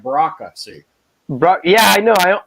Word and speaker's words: Brocka: Well, and how do you say your last name? Is it Brocka? Exactly. Yeah, you got it right.